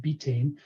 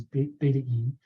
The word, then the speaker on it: betaine: but me calls it betane. Um the actual pronunciation by the people who first synthesize it is betaine from beta vulgaras.